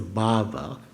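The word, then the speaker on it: bhāva: verse is bhava at bhava with a you could say a short a as opposed to baba with a long a baba means you could say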